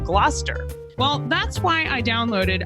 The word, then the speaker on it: Gloucester: Shakespeare was writing, I often mispronounced some of the words that you find in the plays. Like originally, I said glalcaster instead of Gloucester.